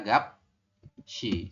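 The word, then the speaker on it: 값이: Jadi kita bacanya adalah gap shi seperti ini.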